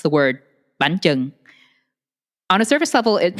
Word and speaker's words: bánh chưng: Where I would say it got a little unpleasant for me was when they started to ask me how to pronounce the word bánh chưng.